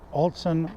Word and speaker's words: ALTSON: altson i am saying it right alton yep altson wireless microphones built in right there that's what